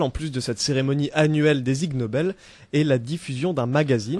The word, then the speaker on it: Ig Nobel: La prononciation d'Ig Nobel ressemble à celle d'ignoble en anglais. Ah, et comment ça fonctionne ces Ig Nobel-là?